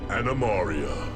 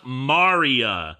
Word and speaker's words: Animaria: To a place called Animaria. Animaria? A floating island in the shape of a turtle that lies hidden under a thick cover of clouds. 1. You mispronounced it. Animaria, not Maria.